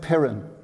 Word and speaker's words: Piran: Piran.